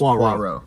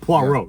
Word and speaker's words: Poirot: So like, think about like, moi, like, Yeah, Poirot. so it's Poi, P-O-I, Ro, R-O-T. There's a silent T. So it's just Poirot. Poirot.